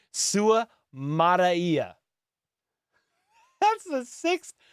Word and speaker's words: Suamataia: He is Samoan. Yep. Have Samoan friends. It is pronounced. Okay, here we go. Suamataia. Suamataia. Oh my gosh. Okay, that's what we're going to try to keep it as.